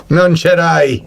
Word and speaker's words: non c'era: Non c'era.